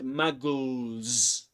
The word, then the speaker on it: Muggles: And that's why in the word muggles, the final S letter is pronounced as Z, because L, this one is voiced. There's a vibration in the vocal folds. Muggles.